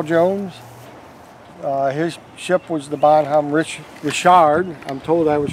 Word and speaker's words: Bonhomme Richard: Captain John Paul Jones, his ship was the Bonhomme Richard. I'm told I was pronouncing it wrong by someone that served on the Bonhomme Richard for the current Navy.